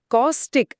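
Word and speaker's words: caustic: காஸ்டிக் அப்படின்னு உச்சரிக்கணும்.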